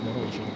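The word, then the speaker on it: Morozzolo: I should say actually Morozolo. So I think it should be pronounced Morozolo.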